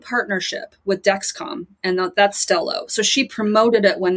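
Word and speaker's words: Stelo: Am I pronouncing that right? Is it Stello? Yeah, that's my understanding. Stello.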